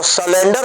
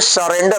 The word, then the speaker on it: surrender: तो ये सब शब्द है, तो सलेंडर शब्द नहीं है, सरेंडर शब्द है।